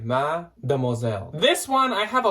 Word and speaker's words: Mademoiselle: So it's Mademoiselle, like Mademoiselle, like the French saying, which means chopped it like up a Mrs.